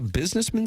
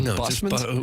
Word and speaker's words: busman: It's not a businessman special. It's a busman.